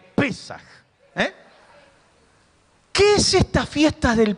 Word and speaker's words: Pesaj: Decí conmigo, Pesaj. Con acento en la E. Pesaj.